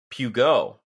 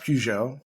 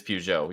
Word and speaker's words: Peugeot: when they merged Fiat Chrysler that's right with Pugo it's pronounced Peugeot Peugeot sorry it is Peugeot you're right I know that nope you're right